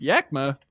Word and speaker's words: Yakima: Christian from Yakima, Washington, pronounced Yakima.